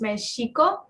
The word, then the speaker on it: Mexico: naat um is pronounced so Mexico should be pronounced meeso um and the people of mexiko are the